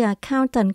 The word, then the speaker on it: accountant: Khi đọc đến từ accountant, các bạn lưu ý chữ count có chữ N. Thay vì mình đọc là account, các bạn đọc là account, count. Cái đó mình có từ tần, tận cùng có chữ T. Tant, accountant.